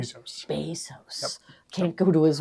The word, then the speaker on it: Bezos: So Because we're trying to compete with Jeff Bezos. we are. Is that Yep. how you pronounce his name? Bezos.